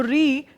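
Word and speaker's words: ऋ: की बात करूं तो री को हम जब बोल रहे हैं री, ये मानक ये है, लेकिन बहुत से लोग इसको इस रूप में जानते होंगे कि री या री, क्योंकि उच्चारण आपका र के ऊपर मात्रा के रूप में इकार आया है, लेकिन री स्वयं में एक स्वर है।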